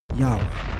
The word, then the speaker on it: Yahweh: Lashon Qodesh or Qadosh, strongly supports the pronunciation Yah Oh.